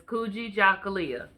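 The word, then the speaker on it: Kujichagulia: in u.s america um so second principle is kuji jacolia and that is pronounced cool g john gooly yeah okay and what that stands for is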